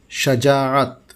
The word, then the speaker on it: شجاعت: میں حاضر ہے ناصر عزیز۔ آج کا لفظ شجاعت۔ درست، شجاعت جو عام طور سے بولا جاتا ہے غلط۔ یہاں یہ عرض کر دوں کہ ریسرچ میں اکثر لغات میں شجاعت ہی لفظ ملا ہے۔ یہ عربی سے ماخوذ